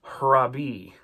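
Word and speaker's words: ῥαββί: It means rabbi, but we're going to kind of put an h on the front of the way we pronounce that. So it's going to be harabi.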